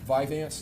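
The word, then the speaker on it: Vyvanse: Um, Viveance, is that how you pronounce it?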